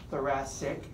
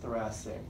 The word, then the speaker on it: thoracic: notice how thoracic is spelled CIC but it's pronounced si si thoracic okay sometimes students misspell it and even they